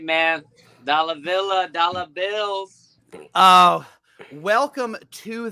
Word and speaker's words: Dalla Villa: your name pronounced because I wanted it so badly to rhyme with dollar bill uh and it did and I was very happy that's right man dollar Villa dollar bills oh welcome